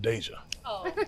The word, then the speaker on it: Deja: in the black community, it's pronounced Deja. Deja is how they say it.